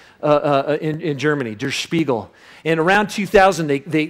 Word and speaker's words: Der Spiegel: came up with this he even taught me how to say the name of the magazine because i couldn't even do it it was der spiegel right but with a lot more spit and and it basically